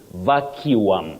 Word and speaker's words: vacuum: Now, Dhika icon, you say vacuum, vacuum. But remember that the standard pronunciation of that word is vacuum. It might be a surprise to many people. Vacuum, vacuum, vacuum.